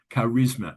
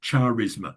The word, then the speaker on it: charisma: Charisma. It's not spelled, it's not pronounced charisma. It's charisma. The H is silent in these.